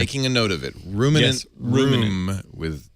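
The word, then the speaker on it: Roominant: It's Ruminant with 2 O's. So it's ROOMIN N-A-N-T.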